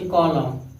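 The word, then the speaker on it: column: इसे कॉलम, यम यन साथ में है, इसे क्या पढ़ेंगे कॉलम पढ़ेंगे।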